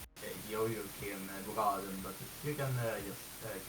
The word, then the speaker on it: Jojokimbroaden: You know, I actually don't know if I can pronounce it correctly, as I'm Swedish, and I pronounce it as Jojokin Braden, but you can just call me Jojo.